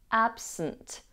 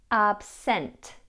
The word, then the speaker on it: absent: The second vowel in the word absent is pronounced as a schwa. So we have absent rather than absent.